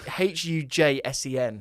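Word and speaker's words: Huijsen: Hussein. Hussein. Well, it's Hujsen.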